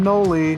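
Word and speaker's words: Knoli: I'm Noli. The K is silent.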